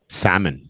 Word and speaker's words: salmon: for that a what salmon yeah the L is silent Simon and it's famous